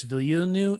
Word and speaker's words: Villeneuve: The guy who did, I want to say his name is Denis Villeneuve.